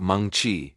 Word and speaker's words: Mengqi Ji: Her name was Meni Gi, pronounced Mongchi.